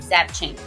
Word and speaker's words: Zapchenk: opportunity to speak with and learn from Danielle zapching please tell me did I pronounce that correctly you did it Tina that